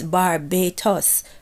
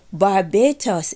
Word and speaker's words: Barbatos: And also, there is another fallen angels that his name is Barbatos, right? I think they pronounce it similar to Barbados as well.